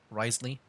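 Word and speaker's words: Wriothesley: It's hard to say the name because like you can see like there's like a lot of like syllables here, but it's like only a few. It sounds like Risley, I think.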